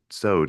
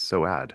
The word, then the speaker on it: Soad: And if you're seeing this in print, it's not pronounced sewed like soap. It's Soad. It's So, two syllables, four letters.